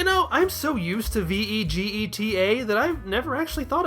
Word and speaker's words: Vegeta: And so it's easy to see that Bejiita is an approximation of Vegeta, vegetable with the end sliced off and a long vowel sound added in the middle.